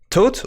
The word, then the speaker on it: Thoth: get there Sherlock 2.0 the authors pronounced like Thoth for real tote like tote bag so said the big